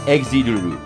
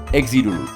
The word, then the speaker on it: XZR: words or play on it's pronounced exile in Japanese XCR because R is pronounced like L they meant to be pronounced like L so it's like exuru exuru it's pronounced the way